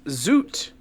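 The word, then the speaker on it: zut: But it was zoot. Spelled Like- Z-U-T. Like the suit? Yes, but with a... That's how I kind of say it, but with a Z.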